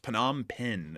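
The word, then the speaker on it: Phnom Penh: Well, also uh I see some people saying it's pronounced Panama Pen, the capital of uh Cambodia.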